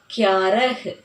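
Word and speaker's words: ग्यारह: Okay children, நீங்கள் கியாரஹ் பாரஹ் வந்து எப்படி சொல்லலான்னா, இப்போது ஒரு ஃப்ளோவில் சொல்லும்போது எப்படி சொல்லுவாங்கன்னா கியாரா, பாரா, தேரா, சௌதா, 15 அப்படி சொல்லிட்டு போவாங்க. பட் நம்ம ப்ரொனவுன்ஸ் பண்ணும்போதோ இல்லை ரைட் பண்ணும்போதோ இதை இஹ்ன்னு தான் ரீட் பண்ணணும். எப்படின்னா இக் யா ர இஹ், கியாரஹ், பாரஹ், தேரஹ், சௌதஹ், 15 அப்படி தான் நம்ம ரீட் பண்ணணும்.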